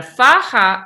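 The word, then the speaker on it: faja: You pronounce the j like an h. Fa. And a faha is um a sash or a girdle or something that goes around the torso.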